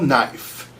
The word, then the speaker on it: knife: was just like, "Spell knife." And he's like, "Knife." Yeah. N I F E. And she's like, "Wrong. Why am I wrong? It's K N I F E. The K is silent.